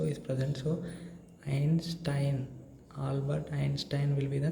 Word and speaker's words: Einstein: Albert Einstein we call generally, right? But actually the correct pronunciation in German, it will become like Albert.